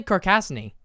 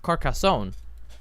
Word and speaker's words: Carcassonne: mm-hmm so another item follow up I play car Cassini which I discovered was actually pronounced Carcassonne anarchist fastening carcass of Carcassonne which is follow